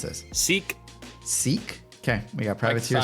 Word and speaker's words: Schick: How do you pronounce this? Seek.